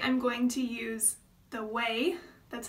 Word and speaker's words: Ouai: So today I'm going to use the Ouai, that's how you pronounce this, Ouai, wave spray.